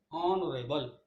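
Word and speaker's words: honorable: ऑनरेबल में H silent है, बाकी जो बचा है वो कॉन्सोनेंट है, वो वोवल है। एच को हटाने के बाद ओ, ऑनरेबल ओ से बनता है, इसलिए इसमें एन लगाएंगे।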